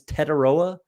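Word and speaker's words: Tetairoa: Toria taroa taroa so if no one knows how to say his name it's taroa McMillan tet McMillan you can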